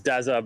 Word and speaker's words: Daza: easy daza all right is that how you pronounce it is it daza is it daza what is it yeah it's daza but you can call